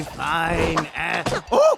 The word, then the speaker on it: phine: they get up, their cards now read, "Very fine Oh no!